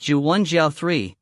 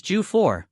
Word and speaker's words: 猪脚: pig feet or at pig feet is pronounced ju3 another way of pronouncing the character for feet paired with other words is je4 and the term for